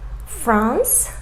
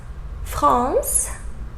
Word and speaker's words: France: So final E, we didn't pronounce it, right? We pronounced just the consonant before that final E, right?